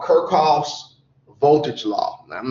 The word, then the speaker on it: Kirchhoff: some people pronounce it Kirchhoff, some people pronounce it Kirchhoff. I don't know which it is. The guy was German, and the Germans have really hard syllables. So it's probably Kirchhoff, like you're coughing.